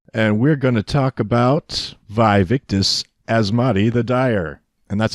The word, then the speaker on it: Vaevictis Asmadi: I'm and we're gonna talk about vive ictus as Mahdi the dire and that's how you pronounce it did you look it up I